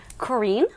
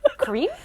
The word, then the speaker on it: Corinne: Corinne? Corinne? Which we found out you can say that way. You can say either way.